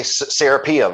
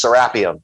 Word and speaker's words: Serapeum: So it's like it's just like the Anglicanized pronunciation. Like, you know, Americans say Serapeum, and when they say it over in Egypt, it's Serapeum.